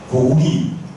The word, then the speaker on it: 고구려: 스님 그냥 한게 아니라 그리고 우리는 고구려 고려 이렇게 하지만 발음은 옛날에는 고구리 고리했죠.